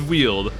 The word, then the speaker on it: wield: the W the wield though and it is pronounced wield I know three it is wield three separate streams have told have said it's not pronounced wield it's Weld and then people looked it up and they're